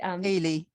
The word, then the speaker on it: Ailey: Ailey. Ailey. Ailey. Don't worry, Thank Ailey. you. Kaylee without the K.